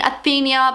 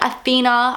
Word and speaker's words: Athena: so so I'm sorry I was saying it Queen athenia but it's actually Queen Athena I don't even know